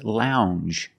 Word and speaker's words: lounge: and this word is lounge Lounge it makes the regular n plus the J Lounge it follows the same